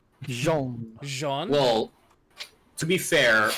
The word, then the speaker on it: Jean: But, well, to be fair, my hyphened secondary name is John, albeit spelled in a very weird way. Jean.